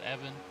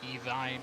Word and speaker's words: Evan: that Evan Evan Clapper it is pronounced Evan not evine or anything it's Evan I promise you okay all right so